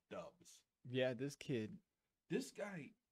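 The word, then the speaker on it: Doubs: going everywhere with romeo dubs and yes i made sure that was the correct pronunciation of his name dubs yeah this kid this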